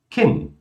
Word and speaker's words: Kind: Palavras que terminam com um D, elas são pronunciadas como um T. Como, por exemplo, Grad, Bad, Kind, Wald, Land, Grund. Falem comigo mais uma vez. Grad, Bad, Kind, Wald, Land, Grund.